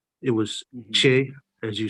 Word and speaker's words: Tchie: It's Che. Yes. Yeah, that's the original name of Mata because they recently had a festival and I saw the sign and it's spelled Tchie.